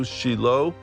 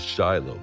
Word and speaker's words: Shiloh: brings him back to Shilo by the way Shilo is Shiloh just in case you don't know okay same place Shiloh is Shilo actually that's true that's true we go by the proper Hebrew pronunciation yeah anyhow so she